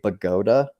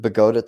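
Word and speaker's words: Bogota: of lockpick called a Boda pick b o g o ta like the U bogot Columbia okay so you want the bagota type pcks or bogot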